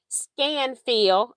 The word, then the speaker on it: Scanfil: I just want you to see it in case I am not pronouncing it right. Scanfil, SCANFIL, in case you're having difficulty reading that.